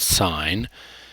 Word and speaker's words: sine: So sine is spelled like that, but we always will approximate a S-I-N, but it is called sine.